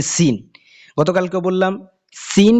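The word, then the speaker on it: سين: যে সিন গতকালকেও বললাম সিন কিন্তু তিন দাত ওয়ালা একটা হরফ হ্যাঁ উচ্চারণে অনেকটা এই সদের সাথে সাদৃশ্য রাখে একই রকম সামঞ্জস্যতা রাখে তো এটা খেয়াল রাখতে হবে আপনাকে সিন এটার আওয়াজটা চিকন হবে আর আওয়াজটা মোটা হবে এটা সাধারণত সিনকে লেখার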